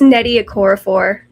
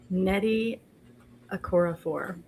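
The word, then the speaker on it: Nnedi Okorafor: I believe it's Nettie Okorafor. That's how I've heard it pronounced. Nettie Okorafor.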